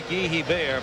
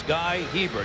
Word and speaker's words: Guy Hebert: it's supposed to be Guy Hebert, but that is not the way his family pronounces the name. It's Guy Hebert. He is not Canadian. He does not have a French pronunciation.